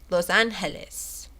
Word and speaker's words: Los Angeles: smoka salare sal sal De Los Angeles Los Angeles you're not supposed to pronounce the G I'm getting better gbear